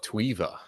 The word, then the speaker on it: Tweva: talk to you and you're the co-founder of tuiva is that how you pronounce it yes yes the co-founder of tweeva yeah that's awesome so it seems like you're